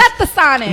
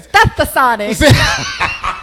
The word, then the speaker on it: Stetsasonic: Stetsasonic. No, you was close again. Stetsasonic.